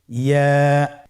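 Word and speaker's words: ياء: ইয়া। ইয়া হরফটি উচ্চারণের ক্ষেত্রে বারিক হবে এবং 1 আলিফ টেনে পড়তে হবে।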